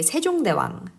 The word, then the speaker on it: 세종대왕: You say 세종대왕.